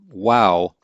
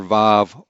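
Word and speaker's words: וָו: of the hebrew alphabet wow can be pronounced either vav or wow and so the wow is the more traditional what you find in older grammars vav is the modern israeli pronunciation and so you'll often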